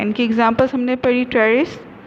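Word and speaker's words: Pteris: ट्रेरिस, P silent है यहाँ पे, एडियंटम, मार्सिलिया एंड ड्रायोपिटेरिस.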